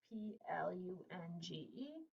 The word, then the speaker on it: plunge: over here for you p l u n g e i would scoop it it's closed so it's a short u and it's a silent e plunge all right what do